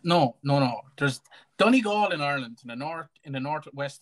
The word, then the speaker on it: Donegal: Or you call it Donegal? No, it's Donegal.